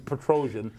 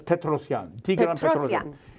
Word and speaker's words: Petrosian: good with names most most chess players pronounce his name is Petrosian but it's petrosion he was world champion